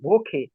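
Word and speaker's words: Woche: ইয়া ভোখে লাস্টে খর মত উচ্চারণ হবে নাকি হ্যাঁ কেন হবে আমি সেটা বলছি না খ কেন হবে সেটা আপনার একটু পরে বলতেছি ভোখে না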